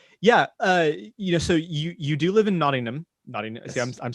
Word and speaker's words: Nottingham: of fun, but so you do live in Nottingham.